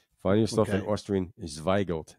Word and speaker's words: Zweigelt: And Gelt meaning like Yiddish for money. Like guilt.